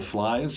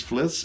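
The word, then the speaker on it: Flys: with new singer Daniel flies I think that's how you pronounce that I don't think it's fiss it could be fiss but it's spelled f lyss flies well yeah I was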